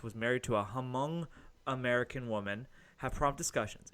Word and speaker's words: Hmong: wife of Derrick Chauvin is among American I'm pronounce it right Hmong American which is an ethnic group from Southeast